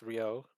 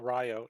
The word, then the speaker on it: Ryo: the original red one, Ryo, but it's pronounced Rio, but even Yeah. us Americans call him Ryo.